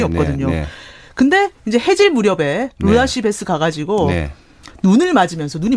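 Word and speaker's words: Rudas: 저는 고민하다가 루다스 베스를 갔어요. 루다시 베스. 발음이 그렇군요.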